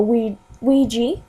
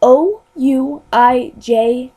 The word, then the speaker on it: Ouija: A Ouija, which is spelled O-U-I-J-A. So you know, it's not Ouija as in like W-E-E-G-A, I think.